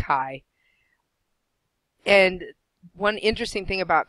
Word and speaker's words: chi: use that Greek letter it looks kind of like an X but it's pronounced a chi and one interesting thing